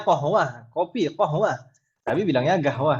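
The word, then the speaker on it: قهوة: Ada juga sebagian negara yang G itu adalah huruf qaf. Gahwah. Ya kan Ibu ya? Gahwah. Qahwah aslinya qahwah, kopi qahwah.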